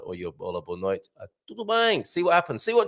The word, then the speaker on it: tudo bem: It's a nasal sound on the bang. So tudo bem, not tudo bang, as Portuguese says.